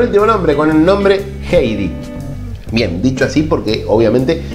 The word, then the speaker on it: Heidi: Bueno, vamos con el último nombre, con el nombre Heidi.